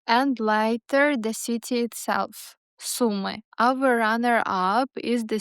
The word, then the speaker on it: Sumy: The pronunciation is pretty straightforward. Sumy.